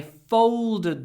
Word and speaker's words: folded: I folded the blankets and put them away.